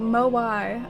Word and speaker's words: moai: aren't they like the easter island statues oh moai okay thank you that's really helpful i appreciate